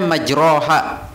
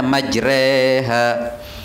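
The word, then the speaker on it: مجراها: Langkahkan kaki kanan, bismillah, bismillahi majreha, tulisannya majroha, bacaannya mestinya fathah, tapi dibaca imalah mereng, jadi bacanya majreha.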